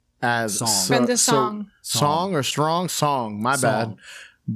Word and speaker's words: Song: as song or Strong Song. My bad. Brenda, how do you say it? Song like you're singing a song.